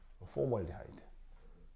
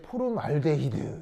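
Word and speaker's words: 포름알데하이드: 포멀디하이드. 그래서 발음 어떻게 하냐면 포멀데 하이드 아시겠죠?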